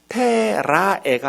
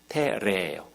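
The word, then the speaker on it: terrae: 카엘리, 에트, 테라에가 아니라 테레. 요거 하나만 조심하면 돼요. 라틴어 발음은. AE가 아에잖아요. 근데 에로 발음해요.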